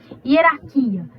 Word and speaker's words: hierarquia: vamos lá hierarquia ó hierarquia não tem acento Mas você sabe que a sílaba mais forte é esse aqui do que antes desse aqui né então a gente vem e coloca o ícator para marcar tonicidade da sílaba né a sílaba tônica no caso gente antes